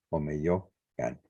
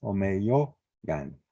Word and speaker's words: Omeyocan: la esencia dual, el Omeyo Can. Le pongo este saltillo o lo aparto tantito o le pongo una H o una J para que se pronuncie. No es Omeyocan, es Omeyogan.